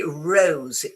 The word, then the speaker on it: rose: In standard British English, your tongue goes back towards your palate and it goes R.